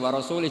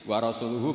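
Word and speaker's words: ورسوله: sesama sayidina Ali dibenarkan yang benar bacanya itu wa rasuluh Allah Bari Minal musyrikin wa rasuluhu bariun aidon rasulnya juga bariun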